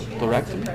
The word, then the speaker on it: thoracotomy: It's called a thoracotomy. Thoracotomy. Thoracotomy. Thoracotomy. Pretty much like it's spelt. It doesn't always work out that way in healthcare, but this particular word, it's pretty much like it's spelled.